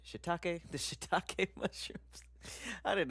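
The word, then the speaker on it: shiitake: The shiakake. I know that's not how you say it. Shitake.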